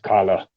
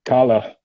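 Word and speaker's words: Kahler: i know it's pronounced kala you say it the german way it's it'd be kala okay this makes sense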